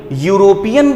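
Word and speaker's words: European: यूरोपियन, यूरोपियन जो है ये स्टार्ट तो ई से हो रहा है, बट इसका प्रोनाउंसिएशन किस पे जा रहा है, यू पर जा रहा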